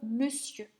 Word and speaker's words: monsieur: oeuf des yeux ensuite pour le e qui s'écrit avec les lettres au n on ne va le rencontrer que dans le mot monsieur ça on avait des